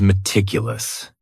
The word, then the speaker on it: meticulous: The next word is meticulous. And this word has 4 syllables. And the stress is on that second syllable. Meticulous. That first syllable also has that schwa. That, sound. That reduced vowel sound.